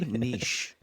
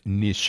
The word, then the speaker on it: niche: It's French, actually. Nish, you know, the proper pronunciation is Nish.